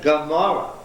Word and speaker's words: Gomorrah: Solomon Gomorrah. In that name, this is being pronounced hard as a what? Not as a glottal stop, but as a G. Gomorrah.